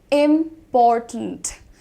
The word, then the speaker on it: important: आपको ध्यान देना है इसको इस तरीके से बोलना है। इंपॉर्टेंट अगेन साउंड ब्लेंडिंग है टिंट में। इंपॉर्टेंट ट और न देखो। Turned tint.